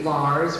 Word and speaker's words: Lars: mr elliott iii his name is really lars rhymes with stars grin rhymes with red and so things make